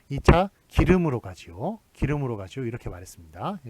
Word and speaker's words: 길음: 자 여기 성신여대 보면 길음역 있죠 기름 양악 5키로 맞다 계셨습니까 지명 입니다 고 1 망 세기 때문에 대문자로 적화 됩니다 자 그 다음에 취하 2 의 헬로 작구요 그 다음에 그 어좌 에리 아니라서 참 좋습니다 예 방 3 좋겠습니다 자 발음이 이게 기름으로 나죠 예 기름으로 나니까 요거 예절 8시 좋겠습니다 임해야 합니다 뿌리 이유 음 이렇게 젊게 맞습니다 기름에 그래서 바르니 기름으로 나니까요 얘네 좀 길음역 에